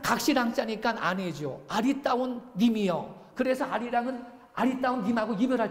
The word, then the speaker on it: 아리랑: 원래는 알리랑이에요. 알리랑. 근데 니을이 다음 음절의 첫소리로 발음돼서 아리랑 이렇게 된 거예요.